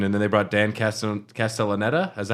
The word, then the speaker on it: Castellaneta: And then they brought Dan Castellaneta. Is that how you say it? Castellaneta, yeah.